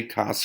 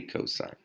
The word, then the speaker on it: cosine: still say cosign you don't say cos or Coast's you say cosine tangent is spelled like